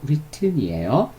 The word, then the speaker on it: written: 그리고 written은 쓰다 라는 동사 write, 과거는 wrote, 그리고 과거 분사는 발음에 주의해야 돼요. write이 아니고 written이에요.